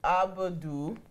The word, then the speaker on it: Abudu: Abudu.